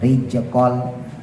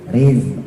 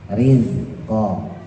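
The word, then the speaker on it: رزق: jadi beda banget jadi kalau ada yang masih baca Jim rij itu pasti ujung lidahnya ke atas dan mayoritas orang kebanyakan yang awam bacanya gitu zainnya jadi Jin ya rijkol bukan Riz Riz tar di bawah rizq kalau memang ragu ya khawatir ujung lidahnya naik ke gigi langsung aja taruh di gusinya rizq ya rizqajalu Nah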